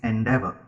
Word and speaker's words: endeavor: the first one is endeavor there are three sybles the stress is on the second sound and andava Endeavor in